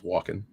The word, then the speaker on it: Walken: I don't ever think I've heard the L pronounced in that one. I think I've only heard is Walken.